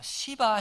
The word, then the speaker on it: 시바: 인도의 힌두 들은 아 시바 신 이라고 하는 신어 섬깁니다 발음을 조심해야 됩니다 잘못하면 욕 처럼 될 수 있기 때문에 시바 신을 생기는데 이